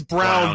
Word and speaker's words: Braun: Well, I think it is Brown, but it's spelled Braun.